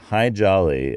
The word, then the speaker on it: Hi Jolly: And Hi Jolly, as in the hi, jolly, good to see you, like that's how it's spelled in Latin letters.